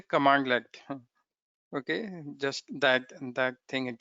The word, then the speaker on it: cmdlet: How do we write it? CMDLET. This is commandlet. Okay, this is how we pronounce commandlet. Sorry, this is this way. Commandlet.